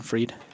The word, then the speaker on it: Fried: yeah, it's spelled Fried. but like German freed.